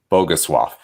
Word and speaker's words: Bogusław: name partially wrong, but I believe his name should be pronounced Bogusław, something similar to that, because of the way. And so it's a Polish name probably because of the way and the L with the line through it.